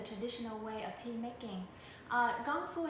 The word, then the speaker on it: Gongfu: Gongfu has the same pronunciation as Kung Fu in Kung Fu fighting, and they both mean dedication and arts and efforts.